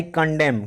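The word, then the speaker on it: condemn: आई कंडेम, क्यों इसको मैं कंडेम पढ़ रहा हूँ, इसका जवाब मैं आपको बता दूं कि कहीं भी फ्रेंड्स जीवन में यम और यन साथ में आए तो यन साइलेंट होता है, तो इसलिए मैं इसको पढ़ रहा हूँ।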